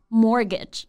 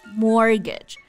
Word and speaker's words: mortgage: 成 mortgage, 那就不对了 ,it's mortgage. Yes, mortgage.